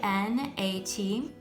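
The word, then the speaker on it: gnat: going to spell g n a t again the g is silent so this word is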